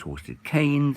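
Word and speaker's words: Horsted Keynes: it goes south towards horsedick gains i don't know it's pronounced hostage chained even though it's spelt hostage jeans that's because it's named after Sir Geoffrey de Cannes who was a Frenchman a Frenchman don't know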